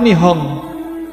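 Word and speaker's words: 日本: NPO niku Nihon P napa to? Nippon. Nippon itu nek nggon film kartun nih kok. Kalau orang-orang Jepang membaca Nippon itu bukan Nippon tapi Nihon.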